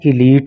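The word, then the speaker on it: elite: देखो इसके प्रोनाउंसिएशन पे आप खास ध्यान देना, इसको इलाइट मत पढ़ना आप, बल्कि ये क्या है? इलीट है।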